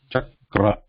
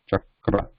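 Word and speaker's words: चक्र: So it is cha and then ka and ra. Ka is a consonant, no vowel, and then the following is the ra here. Chakra. Chakra. Chakra is wheel.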